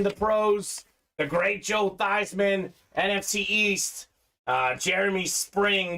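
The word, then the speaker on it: Theismann: his name was pronounced these men at Notre Dame that said look Joe you should pronounce it Theisman so we can promote you Theisman for the Heisman uh so and then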